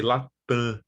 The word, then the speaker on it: Latam: So for example, the name of the airline company, Latam, we say Latam, right? So we nasalize the vowel and drop the nasal consonant.